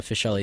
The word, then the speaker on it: Fisheli: are you good so as your last name pronounced fish le or is that it fish yes okay so fish le so I read your bio and it looks